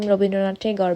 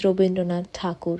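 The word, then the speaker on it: Rabindranath Tagore: to be honest um I know English people could not pronounce his name and decided to call him robind tar but his name is robind donad takur he is a pride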